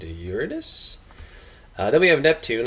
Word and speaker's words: Uranus: less than one uh this is Uranus uh it has some people mispronounce it but it is named Uranus uh then we have